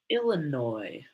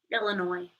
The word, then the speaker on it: Illinois: I like how the Midwest pronounces things like Illinois. Illinois. Like, if you're going to be French about it and have a silent S, it should be Illinois.